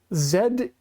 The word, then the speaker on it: Z: year, have had to add bracket or quotation ZETT to make sure that people understand that this is not the American pronunciation.